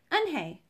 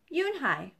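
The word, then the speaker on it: Unhei: new here what's your name a girl asked anhei said anhei the girl ass scrunching up her face some kids chanted no no and corrected it's spelled u-n-h-e-i it's pronounced yunhai oh see even i was pronouncing it wrong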